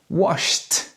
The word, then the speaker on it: washed: This means that the ED is pronounced t. Washed. So not washed or washed, but washed.